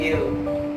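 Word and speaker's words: heir: और यहाँ पे साइलेंट एच होता है, साइलेंट एच, जैसे कि N armour, an honest man, एन एयर।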